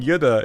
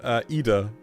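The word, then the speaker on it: Yda: then like yep cuz I kept on saying Yuda instead of Ida e yeah oh my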